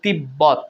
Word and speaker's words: তিব্বত: আ বয় ব ফলা হুসু আব্বু এভাবে দেখুন তিব্বত এখানে বয় বদ দুটো বয় উচ্চারণ হচ্ছে তিব্বত গম্বুজ এখানেও বচ্চারণ হচ্ছে দেখুন